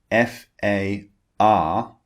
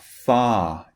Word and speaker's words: far: american pronunciation far but in british english when the r comes at the end of a word we do not pronounce it so when the r